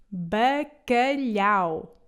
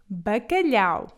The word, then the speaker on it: bacalhau: Agora, a nossa terceira palavra é bacalhau. Bacalhau. Este peixe é muito apreciado pelos portugueses, mas cria alguma confusão quanto à sua pronúncia. Isso deve-se a este pequeno som, lhe.